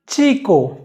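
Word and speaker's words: chico: दूसरा नियम ये कहता है कि अगर से के साथ आचे है तो हम आचे का उच्चारण करेंगे। उदाहरण के लिए चीको यानी लड़का, चोकोलाते चॉकलेट, चैम्पू शैम्पू।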